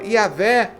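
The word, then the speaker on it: Yahweh: Yavé é como os rabinos afirmam ser a pronúncia correta.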